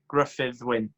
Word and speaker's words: Gruffydd Wyn: I think I just butchered your name there, so show me the proper Welsh pronunciation. Is it Gruffydd? Yeah, so it's Gruffydd Wyn.